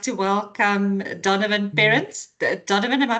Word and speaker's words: Perrins: then um I would like to welcome Donovan parents. Donovan am I pronouncing your surname correctly?